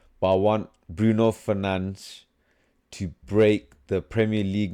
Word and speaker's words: Fernandes: That's how you pronounce his name, apparently. Not Bruno Fernandes. It's Bruno Fernandes.